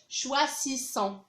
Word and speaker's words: choisissons: choisit يختاروا، nous choisissons قريتها هنا زد ما نقراوهاش choisissons، هنايا نقراوها زد حيت اس انتر دو فوايال، حيت ملي كتكون عندي اس ما بين جوج ديال لي فوايال كنطقوها زد. nous choisissons، vous choisissez تختارون انتم، ils choisissent.